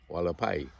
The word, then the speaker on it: Hualapai: Are you Hualapai? Is that correct? I think it's Hualapai. Are you Hualapai? I don't remember how far. Hualapai? The driver asked. It's pronounced Walapi. Walapai. Hualapai. Walapai. It's pronounced Walapai, the American said.